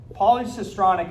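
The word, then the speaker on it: polycistronic: right in your mind but you're not saying it right polycystronic a cystron is a messenger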